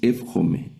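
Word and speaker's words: εὔχομαι: Noten aquí también hay dos diptongos. el primer diptongo cuando la yilum toma el sonido de f y la el primer diptongo que estudiamos alfa y que toma el sonido de e entonces leemos fhome fhome que es desear.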